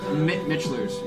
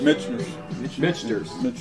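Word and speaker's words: Michter's: Last night I was drinking Knob Creek, Four Roses, and Mitchlers. Mitchers. Mitchers.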